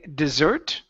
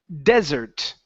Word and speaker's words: desert: Now, this word here, instead of uh it being dessert, okay, the word is pronounced desert. Desert. Desert. Desert. This the stress is at uh the stress is at the very beginning. Okay. Desert. Okay. If you say dessert, that means cake and candy and ice cream and soda.